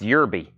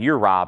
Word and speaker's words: Yerby: It's pronounced Yerby. I've been saying Uribe, haven't I?